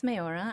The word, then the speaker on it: Meorah: to Judaism sure um so my name is mayora I'm originally from Massachusetts which Israelis have a very hard time pronouncing and I'm here right now in Jerusalem